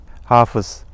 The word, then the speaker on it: hâfız: Mind that in the first vowel is long in the fâ'il and the second vowel in fa'îl. "Kâtip (scribe), hâfız (hafiz)" are pronounced first vowel long.